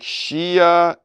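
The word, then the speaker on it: Hsia: All right, coffee sponsor of today looks like Shia Genhui. So Shia is spelled H-S-I-A, and Genhui is the last name.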